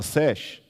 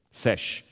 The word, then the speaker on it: sesh: escriba, aquele que escreve, sesh. Você não pronuncia o homenzinho. O determinativo em egípcio você não pronuncia. Você continua pronunciando só o que está antes.